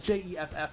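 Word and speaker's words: Geoff: Herman father red yeah so g e f f and j e FF are both pronounced Jeff father Shad rash father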